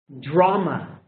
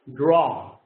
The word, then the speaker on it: draw: to draw pictures draw you don't say I like to dra dra is in Spanish in English draw draw a this is the